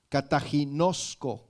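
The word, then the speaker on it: καταγινώσκω: que es la palabra cataginoso con doble K con k ta G kataginoso con cal final no también y acento en la o última Qué significa censurar reprender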